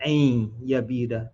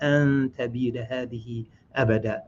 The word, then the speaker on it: أن تبيد هذه أبدا: So I mispronounced that the first time. I said ain yabida. The second time correct. An tabida hadihi abada. So that's the proper.